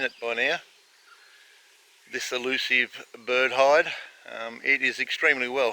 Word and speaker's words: bird hide: this might be it i've actually been saying it wrong it's not the bird hive it's the bird hide this side done mustn't